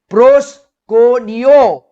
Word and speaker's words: proskuneo: Now again, this worship over here is PROSKUNEO. It is pronounced as proskuneo and spelt as PROSKUNEO.